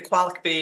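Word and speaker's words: QALICB: project owner and and the qualic B is how we pronounce This Acronym here and that's actually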